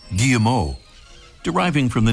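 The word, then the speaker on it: Guillemot: the wings are folded the name gilat comes from the French where the pronunciation would be something like gimo d driving from the name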